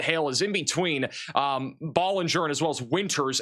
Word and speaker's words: Ballinger: It looks like a hurricane right now here near I'm still trying to figure out pronunciation. Binger. Binger. Ballinger.